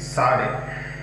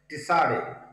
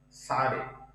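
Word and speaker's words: צדי: That is Sade. So the sound is the TS as in the English word nuts.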